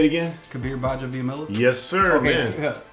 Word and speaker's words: Gbaja-Biamila: Kabir Gbaja-Biamila? Yes, sir, okay, man. So, Kabir Gbaja-Biamila. Gbaja-Biamila.